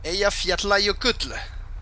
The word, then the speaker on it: Eyjafjallajökull: Eyjafjallajökull. That's how you say it.